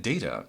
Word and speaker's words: Data: We're supposed to empathize with R2-D2 and Sunny and Data. It is pronounced data.